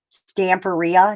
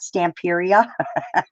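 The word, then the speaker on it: Stamperia: know I was wrong it actually is Stan Faria not Stamp area stamp Beria like pizzeria exactly question how do you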